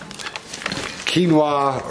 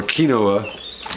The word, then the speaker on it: quinoa: And look, some more curls, sweet potato and cinnamon, and white cheddar, baked toddler snacks, and some quinoa, or quinoa, the way it's spelled, puffs.